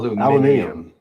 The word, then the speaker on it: aluminium: For example, Americans say aluminum for the metal, right? Whereas in the UK, it's aluminum. Aluminium. Yeah. It's just hard to say it back to back. Yeah. I know. Aluminum and aluminium.